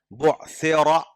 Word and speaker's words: بعثر: کا خیال رکھنا ہوگا۔ بعثر را پر زبر ہے تو موٹا پڑھنا پڑے گا۔ اذا بعثر ما فی